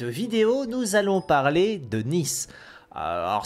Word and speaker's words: Neith: nous allons parler de nice alors ça dépend de la prononciation d'un qui disent pas comme ça mais c'est vrai que j'ai pris l'habitude de dire ceux de dernis donc je dis toujours nice c'est un personnage qui